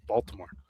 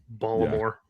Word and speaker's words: Baltimore: Baltimore. Baltimore. Yeah, you don't say the T.